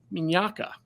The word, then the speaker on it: Mignacca: want to introduce the CEO of cavello James minaka James did I get that right you you nailed it it's the Italian pronunciation was right on thank you you know